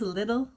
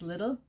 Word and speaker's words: Lidl: uk and it's called i think it's pronounced little or liddell i think americans would say ledell but here it's pronounced little um it's actually a